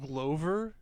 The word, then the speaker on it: Glover: Donald Glover?